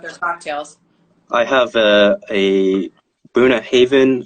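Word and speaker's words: Bunnahabhain: I have a Boona Haven, I think it's pronounced Boona Haven 12-year whiskey.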